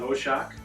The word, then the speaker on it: Hoshak: John Hoshak? Got that right? Correct. Correct pronunciation? Pronounced correctly, yeah.